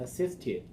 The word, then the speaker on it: assisted: You can, So how about the word assist? May I Uh, assist you? assist. Assist. Assist. Mm-hmm. Assisted. Assisted. So assisted goes over here. Assist. Assisted. Extra syllable.